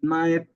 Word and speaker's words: knife: as you know and knife is the machine or the tool we use to cut vegetables and fruits. That's called knife. Don't forget we don't pronounce the K sound or the K letter.